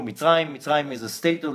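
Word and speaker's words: מצרים: Egypt is not the right way to say it. We say it in Hebrew, Mitzrayim.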